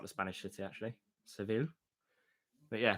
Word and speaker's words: Seville: Seville. But yeah, Seville. I have absolutely no idea. Just think the common surname Saville and change it to Seville.